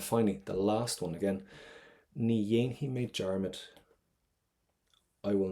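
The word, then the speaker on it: Ní dhéanfaidh: But see this F, don't pronounce it. Rookie mistake. So what we have is Ni Yainhi.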